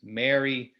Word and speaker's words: Mary: So M-A-R-Y, the name, M-A-R-R-Y, like to marry someone, and M-E-R-R-Y, like have a Merry Christmas. In my accent, and I think many Americans, I pronounce them basically the same way.